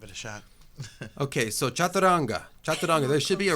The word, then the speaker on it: chaturanga: My teacher, Jimmy Barkin, he's very American, so he would say chaturanga. Chaturanga. Exactly, chaturanga. I think that's funny. It's almost like Spanish, the way you have to pronounce the things.